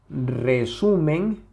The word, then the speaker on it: resumen: palabra resumen resumen y la separamos en sus sílabas sería re suen Okay entonces dónde está la sílaba tónica resumen resumen claramente está aquí podemos notarlo Porque aquí se escucha la mayor intensidad resumen resumen no es